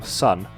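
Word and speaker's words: Sunn: Later, Steven Ali and Greg Anderson will be inspired from this album to form Sun. The O isn't supposed to be pronounced, which are still going till this day and releasing new album in April this year.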